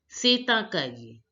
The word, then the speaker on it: C'est un cahier: If the first word ends with a consonant and the second word begins with a vowel, so then we link the words. That's why we are pronouncing it as setankai, setankai, setankai, setankai.